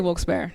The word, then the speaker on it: Wilkes-Barre: But I say Wilkes-Barre. I think that's the correct way.